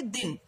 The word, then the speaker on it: दिन: दिन, अब दिन देखिए बच्चों, दिन में कौन सी मात्रा है, छोटी की मात्रा, तो हम इसे क्या, इसका उच्चारण क्या करेंगे, दिन।